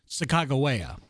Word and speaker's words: Sacagawea: So that is what we know as that's a pronunciation that we've all grown up with. But due to scholars and Native Americans or American Indians who are from the same original tribe, the actual proper pronunciation is Sacagawea.